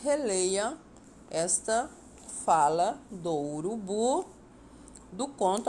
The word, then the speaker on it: esta: e na segunda então na palavra destacada esta a sílaba tônica é o és e esta Jana palavra